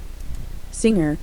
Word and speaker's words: singer: My sister is a singer. 싱어는 가수죠. 잘못 발음하면 싱거라고 할 수가 있어요. 주의하셔야 됩니다. sing은 노래 부르다고 singer라고 하게 되면 가수가 되는 것이죠. ER이 붙으면 사람이나 사물을 뜻합니다. singer, singer, 다음 문장 She was a dancer.